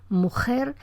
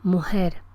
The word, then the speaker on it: mujer: esta articulación tan anterior, es tradicional en la dialectología hispanoamericana establecer una distinción entre las hablas que realizan un fonema velar, las que dicen mujer, y las que tienen una realización fricativa, posterior, como aspirada, mujer, mujer, mujer.